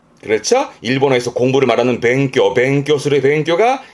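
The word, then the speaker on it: 勉強: 뒤에 강자니까 강해지기 위해 힘쓰는 게 공부를 말하는 뱅교. 그렇죠? 일본어에서 공부를 말하는 뱅교술의 뱅교가 이 한자. 요거를 동사로 쓰게 되면 발음은 즈토메르 해서 힘쓰고 노력하는 부분인데 주로는 했던 한자죠.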